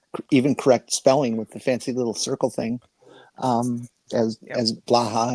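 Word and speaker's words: blåhaj: little circle thing, as blaha, as what we pronounce as blaha. And then when I asked it to speak it on their little push your little microphone or speaker button, it's a blue high.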